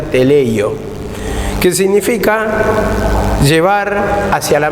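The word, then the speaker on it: τελειόω: palabra griega que se llama o que se pronuncia teleleyo que significa llevar hacia la meta el objetivo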